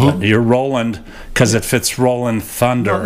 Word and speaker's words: Roland: thank you Rolland Roland Roland Roland Thunder some guys say Rolland you're Roland cuz it fits Roland Thunder no actually my name was always Roland it was never pronounced Roland okay but but the